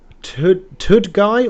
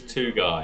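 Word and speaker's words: Tugay: That has to be Tudguy or Tugai? I can't remember how you say his name. It's not Marcus Tudguy, it is Tugai.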